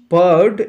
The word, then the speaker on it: poured: ইজ পার্ড into a প্যান, একটি পাত্রের মধ্যে ঢালা হয়, এই যে এই শব্দটা POURED, এর উচ্চারণ হচ্ছে প প প, পয়জা ফলাকা র হয়, কিন্তু রটা সাইলেন্ট, পার্ড, তার মানে পার্ড